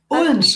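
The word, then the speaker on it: Odense: Today we have Jital joining us from I don't know if I'm pronouncing Odens Denmark. Odens. That's my hometown actually.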